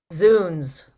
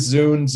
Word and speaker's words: Zounds: Zoons. Zounds. Nope, it's zoons, like God's wounds. It is Zounds indeed, Coppet.